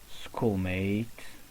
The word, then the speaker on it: schoolmate: sentence we have my schoolmate my schoolmate well here the sound producer by the letter C H is not cha ok so the sound produced by CH is K okay we're going to